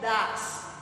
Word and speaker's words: does: y they ellos y does se escribe do pero se pronuncia dases Sí y se utiliza